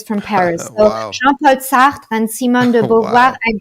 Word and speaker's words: Sartre: Jean-Paul Sartre and Simone de Beauvoir, Wow.